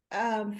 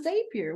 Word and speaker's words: Zapier: Like that's I mean, it's zap. You're zapping, right? Why I do know. people go to Zapier?